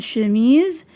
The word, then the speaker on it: chemise: Une chemise, une histoire, un sac, un soupe. Pardon, une soupe. Chemise, histoire, sac, soupe. Alors l'intrus c'est chemise. هنا S se prononce Z.